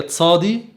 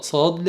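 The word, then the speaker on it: צדי: بعد كده حرف الصاد اسمه في اللغة العبرية تصادي، كان قديما بينطق صاد لكن حاليا بينطقوا تصادي تصادي تصادي.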